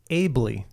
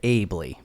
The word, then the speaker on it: Aebli: that's my attention and the correct pronunciation is ably so abley that's my name that's